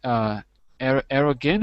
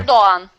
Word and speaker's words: Erdoğan: So, first of all, the pronunciation is Erdogan or Arayan? How do you say his name? Arrogant. No, the president. How do you pronounce his name? Erdogan. Prime Minister. Erdoğan.